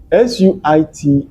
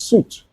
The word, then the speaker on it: suit: S-U-I-T is pronounced suit, suit, like the word boot. It's a set of clothes, such as a jacket. For example, he's wearing a sharp suit for the interview.